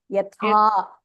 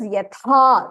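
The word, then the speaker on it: यथा: Mahapranaha has to have that h sound. Yatha. Okay. Instead of, like, for example, this is yat. Okay. This is yatha.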